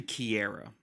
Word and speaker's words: Kiera: saying her name wrong because I was saying Sierra's name wrong the whole time it's actually Kiera or according to Professor